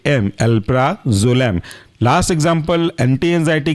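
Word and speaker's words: alprazolam: पी आर ए जेड ओ एल ए M alpha Jalam last example anti anxiety के अंदर का व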